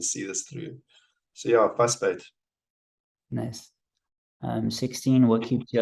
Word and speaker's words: vasbyt: So there's a South African word called fussbait. It's spelled VASBYT, so the V is pronounced with an F.